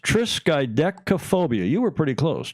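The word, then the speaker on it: triskaidekaphobia: fear of the 13th and it is actually pronounced triskaphobia you were pretty close triskaphobia I had to go even and listen to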